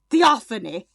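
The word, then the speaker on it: Theophanie: like t it's spelled t h e o p h a n i e. Theophony theophony like least intimidating that like you're welcome for not killing you.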